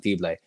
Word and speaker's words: Fibleuil: welcome in Ilan fibre and that is the best pronunciation I can give you at the moment when we can get more pronunciations we'll try and adjust it but we believe it's Ilan fiblay a clap time UCLA